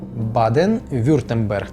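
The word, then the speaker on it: Baden-Württemberg: масив у цій землі досить складно дається мені вимовлення назви цієї землі Зараз спробую Баден вюртенберг Баден вюртенберг так правильно дуже мені чомусь складногодається саме назва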